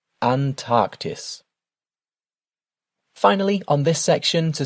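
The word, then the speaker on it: Antarktis: And your continent is pronounced Antarctis. Antarctis.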